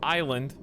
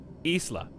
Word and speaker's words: isla: source all right uh the spanish word for island isla according to google chat please correct me if i'm wrong i just that's what google says isla that's what it says it says in english it'd be isla in spanish it's isla and we're going into mexico so i assume that the second one would be correct that's why i googled